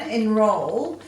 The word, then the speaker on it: enroll: the d now on enroll um you can hear the accent on the second syllable so that means we're